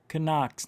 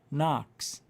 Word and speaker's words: knocks: it with me wood connox no knox the k is silent the first one second